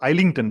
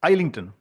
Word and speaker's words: Islington: Islington in administrative law all of us pronounced it as R versus isington because Island so isington now Mr monar mam